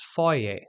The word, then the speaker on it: foyer: foyer note that in American English this is pronounced fire but in British English it is foyer speaking of differences between British and American English